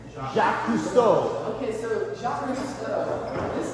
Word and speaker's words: Jacques Cousteau: Jacques Cousteau.